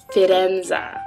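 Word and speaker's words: Faenza: way little side note the uh Italians say fenza really spelled like fire enza or fire ends I've been calling it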